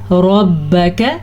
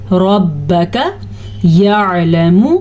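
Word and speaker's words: رَبَّكَ: پڑھیں گے، ان ربک را کو پر پڑھنا ہے لیکن نہ تو با کی زبر کو لمبا کرنا ہے اور نہ ہی کاف کی زبر کو لمبا کرنا ہے۔ بعض لوگ اس کو پڑھتے ہیں ربک، تو یہ غلط ہے، اس کو ہم کیسے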